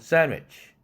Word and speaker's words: sandwich: sandwich도 sandwich. 왜? 뒤에 W 발음은 반모음인데 내가 때때로 얘기했지 않습니까? 반모음은 결국 반자음 구실은 한다고.